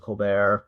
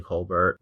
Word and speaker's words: Colbert: only a few of his family members that pronounce it coar like I know some of his I think most of his siblings say Colbert okay they know like his father always wanted